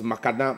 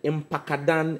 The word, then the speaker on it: Mpakadan: Now the president comes to say that it is his project, and he couldn't even pronounce Mpakadan. It was Makadan, Makapa, and I shouted Mpakadan, and even with that, he couldn't pronounce it.